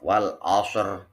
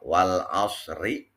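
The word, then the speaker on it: والعصر: Jadi kalau kita baca waqaf wal asr, ro-nya jelas, terang, tebal. Tapi kalau kita bacanya wasal wal asri, nah itu menjadi ro-nya menjadi tipis.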